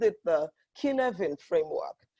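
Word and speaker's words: Cynefin: they called it the kin event framework right could have been expelled CY and EFI n it is a Welsh word so it's not pronounced like English so the killer in framework categorizes problems into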